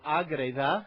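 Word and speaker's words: Ágreda: And it is María de Agreda, which is the name of the town in north-central Spain that she was born in and that she really never left.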